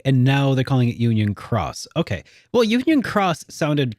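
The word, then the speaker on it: Union χ: In this case, it is pronounced like cross. Okay. So it was Key and now they're calling it Union Cross.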